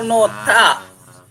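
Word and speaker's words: 놓다: nota oh nota ah bukan Noto tapi nota ya nota seperti I not kita membahasnya adalah nota ya ini kan tulisannya adalah Oke anda perhatikan ini tulisannya adalah nohda tetapi anda membacanya adalah Noa Kenapa nota Kenapa nota Mas Nanto karena karena eh Hi bertemu dengan Iya betul ya Hi di akhir ketemu dengan Diget ini untuk hiatnya bebas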